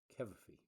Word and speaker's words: Cavafy: Cavafy.